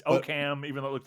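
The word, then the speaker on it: Occam: Worster but I in oam I guess so yeah I guess in okam is it okam it's oam that was another thing how it spelled o a k h m see if we screw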